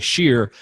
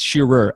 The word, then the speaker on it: Shearer: It always sounds like Shearer, but it's Shearer, at Shearer on Instagram.